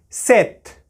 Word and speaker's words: sept: cinq, cinq, six, six, sept, sept. Note, we are not pronouncing this P here. We are just pronouncing set.